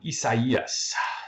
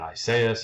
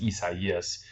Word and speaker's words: Isaias: That's how you pronounce it. A lot of people, obviously, in America are pronouncing it Isaias and all that, but the proper name, I don't really care how you pronounce it, but the proper name is Isaias.